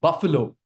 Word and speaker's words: buffalo: Where's the stress? Stress is on the first syllable.